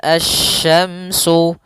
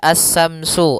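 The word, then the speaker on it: الشمس: dalam pelafalan huruf syin Jangan dibaca assyamsu assyamsu Wal qamaru bukan atau juga Samsu dengan tsa bukan karena di sini huruf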